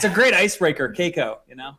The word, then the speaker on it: Cayko: it's a great icebreaker caico you know yeah now it's psycho that's what i told